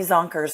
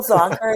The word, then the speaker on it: Zonker: Google Zonker and you're going to find me. Spelled just how you think it's spelled. Yeah, exactly. Zonker. No S. That's the one mistake. People say Zonkers, which I think is maybe Zonkers.